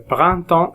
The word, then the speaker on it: printemps: printemps est arrivé lundi ps on les prononce pas le printemps est arrivé et les